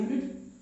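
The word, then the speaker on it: unit: ऐसी बात हुई जैसे मैंने लिखा यूनिट, तो यहां पर शुरुआत तो वॉवेल से हुई, लेकिन जब मैं इसका हिंदी उच्चारण करता हूं तो यहां पर आता है यूनिट।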